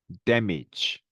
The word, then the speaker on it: damage: damage, manage입니다. 그렇죠? 자, 앞에 있는 A 발음은 강세를 받으면서 에 발음이 되지만 뒤에 있는 발음은 강세가 없으니까 사실은 거의 슈아 발음에 가깝긴 합니다만 이렇게 이 발음으로 납니다.